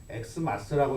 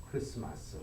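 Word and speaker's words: Xmas: 그러니까 이것은 사실은 엑스마스라고 읽으면 안 되고 같은 표시입니다. 크리스마스 이렇게 읽어야 옳은 이야기입니다.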